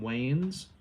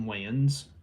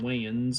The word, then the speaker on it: Wayans: movie is major pain a movie with damon wayne's damon wayans i know i pronounced that wrong you also got uh the